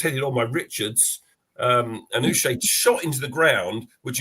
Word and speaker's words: Uche: Uche, is that how you say it?